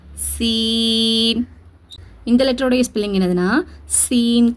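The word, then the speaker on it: سين: இத வந்து ஷீன்னு உச்சரிச்சிர கூடாது. இந்த இதே வடிவத்துக்கு மேல மூணு புள்ளி வந்தாதான் அந்த ஷீன். இங்க பாருங்க சீனு இது ஷீன் சீன் ஷீன் ரெண்டையும் போட்டு குழப்பிக்க கூடாது ரெண்டுக்கும் ஒரே உச்சரிப்பை கொடுக்கக்கூடாது.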